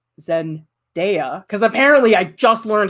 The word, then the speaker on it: Zendaya: me so yeah well shame if you like zen deya because apparently i just learned how to pronounce her name correctly i was calling her zendaya forever anyway we did some drawings of zendaya